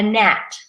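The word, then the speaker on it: gnat: they really ought a net net it looks like good net but we don't say that net the G is silent another word again not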